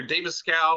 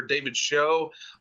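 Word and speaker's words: David Schow: And I say David Scow because you could either pronounce his name's either David Scow or David Show.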